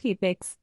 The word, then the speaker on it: CapEx: Capital expenditure, often abbreviated as CapEx, pronounced CapEx, refers to the financial investments made by a